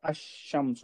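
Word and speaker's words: الشمس: जैसा अशम्स बोले हम जी शमसुम में लाम बिल्कुल साइलेंट है। अलीफ सीधा शीन से मिल जा रहा।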